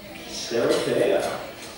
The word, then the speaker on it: Sherekea: celebrating the journey, and I have a, I brought in a translator at the last moment to coach me on the African pronunciation. So Sherekea, right? Sherekea.